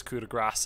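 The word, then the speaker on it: Coup de Grâce: and then of course kuda grass and yes you do pronounce the c e at the end this spell is very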